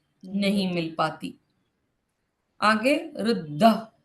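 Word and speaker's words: ऋद्ध: इसको इंग्लिश में स्पेल करना, इस वर्ड का pronunciation. Riddh, RIDDAH, Riddh, Riddh Riddh RIDDAH, Riddh.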